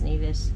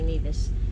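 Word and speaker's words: Nevis: over to neas and I think that's how you say it it's neevis neas whatever but I hear the some people say Nas so we anchored there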